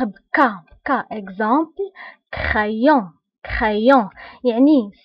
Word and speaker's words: crayon: كا اكزامبل كرايون، crayon يعني سي الى تبعها ار كتنطق بك crayon voilà كنطقوها بلو سون